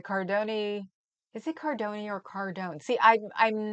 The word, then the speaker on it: Cardone: Cardone rhymes with zone.